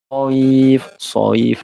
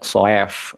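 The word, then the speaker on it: صيف: Soif, tidak soef, ya.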